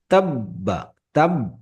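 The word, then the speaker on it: تبت: আবিলাহাবিতাবাই লেটারের উপরে তাসজিদ থাকে ওই লেটারটা দুইবার উচ্চারণ হয় এইযে বার উপরে তাসজিদ আছে এটা দুইবার উচ্চারণ হবে বাটা একবার পূর্বের লেটারের পূর্বের হারাকাতের সাথে তাববা তাব এইযে তাব একবার উচ্চারণ আবার নিজের হারাকাতের সাথে একবার ঠিক আছে প্রত্যেকে আমার সাথে প্রকটিস করবেন ইনশাআল্লাহ।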